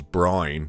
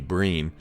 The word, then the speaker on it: Brian: Brean, who most of you would know as Brian, but his name is actually Brean even though it's spelled Brian.